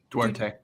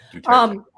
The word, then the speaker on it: Duterte: Duarte. It is Duarte? I believe it's Duarte. Duterte. Oh yeah. Duterte.